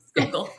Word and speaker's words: Schuylkill: And it was an experience, running down by and I'm going to butcher this, the Schuylkill River, I think is how you pronounce it. Close. But it was Schuylkill, but super close.